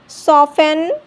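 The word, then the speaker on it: soften: ऑफन, लिसन, castle, wrestle, सॉफन, Christmas. ई silent, ई कब silent होता है?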